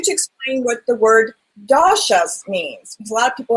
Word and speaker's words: doshas: explain what the word dasas means a lot of people have no clue that means I probably didn't even say it right so you said it perfectly then it's called doas so that is the